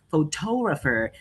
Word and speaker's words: photographer: So, so we can see that the first word photographer is had the first stressed syllable, and the second is photographer. It has the second stressed syllable, and the final one it is photographic.